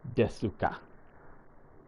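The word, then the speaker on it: です: is, let's see, well, the U's, the vowel sounds drop out a lot after the S. So it's like, I'm trying to think of, like, desu, desu, is very often pronounced like des. You hear it as des because the U like sharply drops off.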